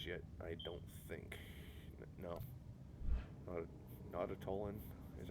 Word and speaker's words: Nautolan: of these guys yet I don't think no not at Olin is how you pronounce that not at Olin I'm not I'm